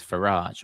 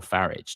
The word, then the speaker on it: Farage: The Mail, Kemi, why I will never do a deal with Farage or Farage, depending on how you pronounce it.